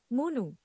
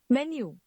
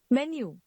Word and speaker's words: menu: Now we have You may be pronouncing it munu. What it actually is. Menu. Menu.